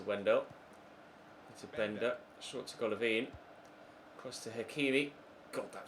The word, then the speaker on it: Golovin: I just had a look on a pronunciation website and it's Golovin is how you pronounce it, so that's how I shall be pronouncing it from here on out.